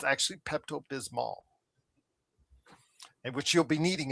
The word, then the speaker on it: Pepto-Bismol: Everybody just the way they say it, you always say Pepto-Bismol. You don't say Pepto-Bismol because it does have an L on the Who Pepto-Bismol?